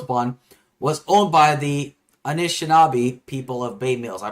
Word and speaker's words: Anishinaabe: was owned by the Anishinaabe people of Bay Mills. I probably butchered that, but I'm sorry. Indigenous people, essentially. Anishinaabe is the Yeah, Anishinaabe? Okay, Anishinaabe is what you're looking for.